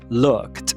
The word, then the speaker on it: looked: Então, olhou, é looked, looked, looked. Esse D é pronunciado como T. O th também pode ser uma ortografia, como na palavra tyent, tem outros também.